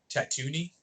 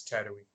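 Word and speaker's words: Tatooine: when i was younger i always called this planet tattoony tattootie it was i was exactly embarrassing age old when i realized it's tattooing that's okay ahsoka used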